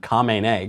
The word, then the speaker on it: Khamenei: The new guy's name is Ayatollah Khamenei. Okay, so he mispronounced the name. It's pretty close. It's not like he confused him with John Smith or something. It's Khomeini and Khamenei.